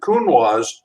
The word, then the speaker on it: Counoise: And I say, you pronounce it Counoise because in French, if you cover the S with a vowel, you pronounce the S.